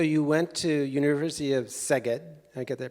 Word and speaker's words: Szeged: - So you went to University of Szeged, did I pronounce that right?